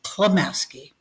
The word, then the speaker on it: Klemaske: Everyone loves to add an N in there, but it's Klemaske.